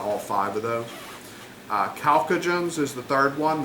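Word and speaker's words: chalcogens: Uh Calcoagens is the third one. The ch gets pronounced like a K.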